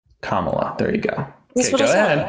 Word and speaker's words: Kamala: Do you want to pronounce the name again? This time try it a different way. Kamala.